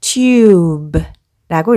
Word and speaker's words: tube: 여기 옆에 이 단어는 앞 단어에서 이렇게 묵음 이가 붙었습니다. 그러면 여기에 U의 알파벳 소리는 U가 되겠죠. 앞에서부터 읽어보면 T, U, B 묵음 해서 tube라고 읽습니다.